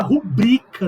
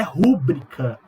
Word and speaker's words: rubrica: Se pronuncia circuito, se pronuncia gratuito, se pronuncia fluido, se pronuncia rubrica, não é rúbrica.